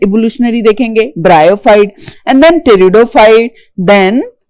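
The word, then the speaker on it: pteridophyte: ब्रायोफाइट and then टेरिडोफाइट then टेरिडोफाइट में P silent होता है। Alright टेरिडोफाइट with P silent पढ़ते टेरिडोफाइट है पी कोसाइलेंट करके।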